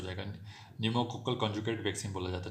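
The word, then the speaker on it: pneumococcal: निमोनिया से हो जाएगा, न्यूमोकोकल कॉन्जुगेट वैक्सीन बोला जाता है, ठीक है। न्यूमोकोकल में तो सर एन आ रहा है, लेकिन भैया साइलेंट है सामने पी, ठीक है।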